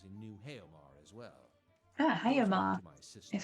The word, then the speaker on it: Haomar: Haomar is how you say that.